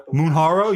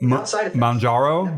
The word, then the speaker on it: Mounjaro: Munharo? You mean Mjaro, right? Isn't that how it's pronounced?